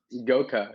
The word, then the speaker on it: Goca: Is it Goca? Goca, yeah, you Okay, pronounced so it I right.